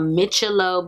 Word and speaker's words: MICCILO: The box that it came in was here, and it is called MICCILO, but it's spelled M-I-C-C-I-L-O.